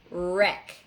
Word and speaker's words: wreck: it means to destroy and it has a silent w and next is right